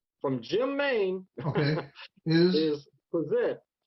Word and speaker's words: PPFSZT!: from jim mayne is possessed with the silent f right and this covers